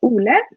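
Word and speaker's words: Ole: don't i don't know why i said olay out because his name is that's how you pronounce it in norwegian but oola we'll be giving this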